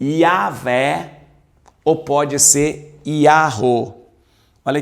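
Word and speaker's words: Yahweh: entender e para descobrir qual era a pronúncia Pode ser yaveh ou Yahoo e o que que acontecia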